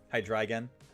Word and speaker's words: Hydreigon: Hydreigon. I respect that. I want to pronounce the Pokemon names as correctly intended.